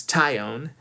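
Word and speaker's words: Taillon: and I'm also seeing I'm working on my pronunciation it's tyion sorry sorry Jameson uh but yeah definitely trying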